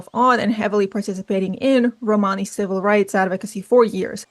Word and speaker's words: Romani: Romani isn't technically even the correct pronunciation, it's Romani.